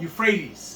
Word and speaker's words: Euphrates: Euphrates.